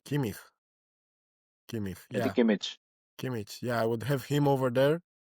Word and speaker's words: Kimmich: We have first Pavlovic from Bayern, Joshua Kimmich, or Zubimendi, Declan Rice, Mikel Merino.